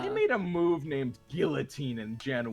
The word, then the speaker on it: guillotine: believe the French would pronounce it as guillotine. And if you don't want to end up inside one, you respect the French's pronunciation.